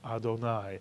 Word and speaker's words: Adonai: our life and then instead of saying Irving or sad or God's name we say my Lord or our Lord or oh Lord and we pronounce it Adonai and therefore the first